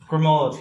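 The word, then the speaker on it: Gremaud: I'm going to say Matilda Grimaud. Grimaud.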